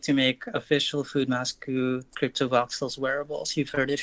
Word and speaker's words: Foodmasku: I always want to know how to pronounce usernames. You got it correct, Foodmasku.